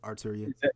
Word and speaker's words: Arturia: um and yeah, but rent to own, like there's a like Arturia, like they have or is that how you say it? I don't even yeah, know. yeah. That's Arturia.